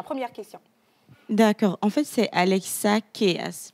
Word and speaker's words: Alexa Keys: En fait, c'est Alexa Keys. Mais bon, certains prononcent Keys. Voilà.